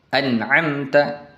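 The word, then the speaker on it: أنعمت: Contohnya adalah an'amta. An'amta dibaca jelas.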